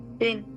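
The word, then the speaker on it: سين: তাহলে এটা কি হবে, সিন। সিন। নিচে 2 দাঁতের পেটে লাগবে, জিহ্বার আগাটা নিচে 2 দাঁতের পেটে লাগিয়ে সিন উচ্চারণ করা হয়।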